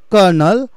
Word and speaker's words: colonel: Colonel, it is pronounced as what? Colonel, and the actual spelling is colonel.